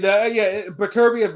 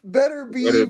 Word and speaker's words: Beterbiev: But Beterbiev is how you pronounce it. But it's better. I never heard nobody say that until King B just said that. I've always heard, better beef with the punch. Beterbiev. Yeah, well, it's wrong.